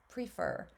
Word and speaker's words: prefer: out how I pronounce when I say prefer the way I pronounce it where I live that e is a long e prefer um and then when